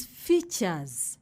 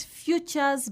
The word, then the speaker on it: features: And in the environment, we find different features. Features, not futures, but features.